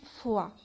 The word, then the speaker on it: fois: فوالا عندنا كلمة فوا. لو فوا لهنا شوفوا كيفاش تتكتب. حنا نروحوا نحوسوا في النص على كلمة كي ننطقوها نقولوا عليها فوا. فوالا شوفوا لهنا il y avait une fois. شوفوا الكتابة ماهيش زي بعضها ولكن النطق كيف.